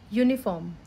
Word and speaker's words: uniform: so a table uncle uniform umbrella unicorn you can see here the sound of you is different here uncle when you give